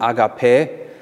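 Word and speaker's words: ἀγάπη: ein zu einer agape agape auf griechisch ausgesprochen akp heißt liebe es soll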